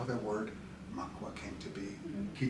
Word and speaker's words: Mkwa: So that's how the word Mkwa came to be. Mm-hmm. He taught me in the dialect from up in Wiki area, you don't pronounce the M, so it just becomes Kwa. Kwa.